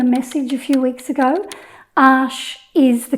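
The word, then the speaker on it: Arches: sent me the message a few weeks ago ash is the correct pronunciation like many i used to call it archers but i was wrong then i started to call it ashes plural and that was wrong too now i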